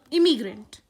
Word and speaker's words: immigrant: second one is immigrant please listen to the pronunciation carefully this is emigrant this is immigrant now let's see what